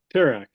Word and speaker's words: Terak: So we're pronouncing this Terak, right? Terak.